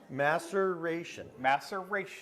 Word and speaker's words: maceration: master master master ation maceration rhymes with evacuation rhymes with anticipation but maybe the rage